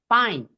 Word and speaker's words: fine: 그래서 그 that's fine 할 때 발음 F는 그냥 쌍비읍 발음이라 생각하시면 돼요.